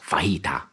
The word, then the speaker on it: fajita: fan of chicken vegetas and I know it's pronounced fajita but I'm not Mexican all right it's now